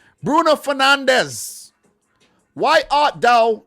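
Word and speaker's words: Bruno Fernandes: here bruno for now let me say it in freaking portuguese i was stuck in between the english and portuguese pronunciation bruno fernandez why art dao not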